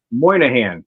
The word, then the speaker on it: Moynihan: Moynihan.